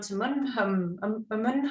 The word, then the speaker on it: Umunhum: Well, I was just going to ask you maybe about the Mount Umunhum. Is that how you pronounce it? Umunhum, yeah, Mount Umunhum, yeah.